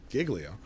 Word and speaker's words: Giglio: ranking member was who's jod Giglio which is confusing because I used to work for Mr jilo spelled the same but she her name is Giglio uh from Long Island